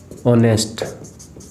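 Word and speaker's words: honest: मेरी बात सुनना आप ऑनेस्ट और यहां पर क्या है साइलेंट है क्या यहां पर भी साइलेंट है और यहां पर भी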